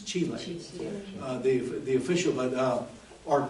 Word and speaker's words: chile: an official state pronunciation it's not chile it's chile the the official but